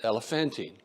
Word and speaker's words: Elephantine: a weird looking word I looked it up and that's the way they say to pronounce it elephantine how many of you